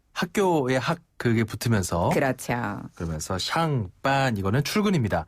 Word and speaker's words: 上班: 자, 출근을 중국어로는 上班. 上班.